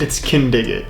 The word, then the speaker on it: Kindig: It's Kindig it. Kindig it. Like can dig it. It's Kindig it.